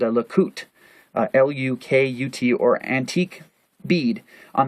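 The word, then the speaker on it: Lukut: The Kayan tattoos of Borneo, who were always female, tattooed a design called a Lakut, L-U-K-U-T, or antique bead, on the wrist of men to prevent the loss of their soul.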